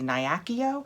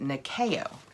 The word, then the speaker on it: Nyakio: This looks like to me, I want to say it's the Nyakio, but below it, they've pronounced it Nikeo.